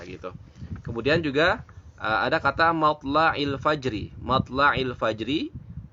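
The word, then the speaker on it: مَطْلَعِ الْفَجْرِ: Kemudian juga ada kata matla'il fajri. Matla'il fajri, maka dibacanya adalah matla'il fajr.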